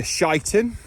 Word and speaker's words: Sheinton: making my way to shiten the the correct pronunciation and I got that